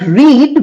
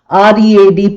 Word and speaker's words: read: Unlike read which is pronounced differently although it is spelled the same. Re a d past tense is spelled as re a d but pronounced as read past tense read present tense.